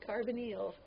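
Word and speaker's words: carbonyl: oxygen this is a carbonal group carbonal it's pronounced carbonal it's carbon carbonal all right got a carbonal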